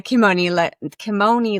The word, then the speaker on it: Kimoni: So let's talk a little bit more about the Kimoni legacy.